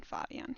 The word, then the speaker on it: Fabian: Orange, with their very newest addition, Fabian. He's German, so I pronounce it German.